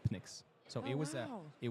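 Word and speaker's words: Pnyx: yet or not quite yeah so it's called Phoenix it's spelled p-n-y-x so the reason that I chose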